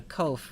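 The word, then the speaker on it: קוף: enough to remember cove people sometimes want to pronounce this as a qu like queen and we almost always see a you followed by following the Q in English but a cove really just sounds like a ke Cove next letter is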